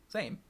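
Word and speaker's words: Zaiem: But his Twitter account says name is pronounced Zaym, so Zame, right?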